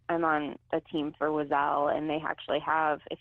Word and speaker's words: Oiselle: The Wazelle Dirty Dozen, and Wazelle is spelled Oiselle.